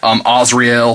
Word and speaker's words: Azrael: Now I say Azrael, I hear some different pronunciations of it. Azrael, things like that.